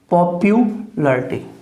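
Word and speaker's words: popularity: ठीक है, अब देखिए ये पॉपुलरिटी, इसका प्रोनाउंसिएशन नहीं करना। पै है, ये ओ का साउंड है पो, पै यह बड़े ऊ की मात्रा, पॉपुलरिटी।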